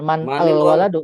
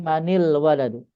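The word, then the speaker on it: من الولد: Kalau nun mati bertemu dengan al, maka nunnya ya diganti dengan kasrah. Harakat nunnya diganti dengan kasrah. Jadi manil waladu bukan man al waladu tapi manil waladu.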